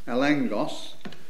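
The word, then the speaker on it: ἔλεγχος: the substructure foundation evidence the great word is pronounced elangos it's not spelled that way but that's how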